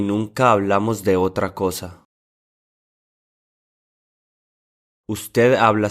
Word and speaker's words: hablamos: This is the one form that has a stress on the second syllable instead of the first syllable.